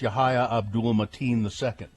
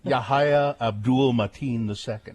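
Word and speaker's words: Yahya Abdul-Mateen II: Yahya, I believe it's Yahya Abdul Mateen II. Yes. I would give him an award just for that name. Yahya Abdul Mateen II.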